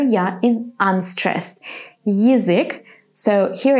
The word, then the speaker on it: язык: In the third word, язык, we're going to say Y and then I. Язык. The beginning sounds a little bit similar to the English word yield. Yield, язык.